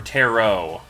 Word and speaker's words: tarot: You know, I think that's a pretty good tarot reading. Yep. Alright. Or tarot. There's no T pronunciation.